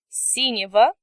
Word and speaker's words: синего: Синий will become синего. Молодой will become молодого. Note that as before, we pronounce consonant G as V in these endings.